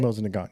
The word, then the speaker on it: Mosin Nagant: Mosin Nagant, yeah.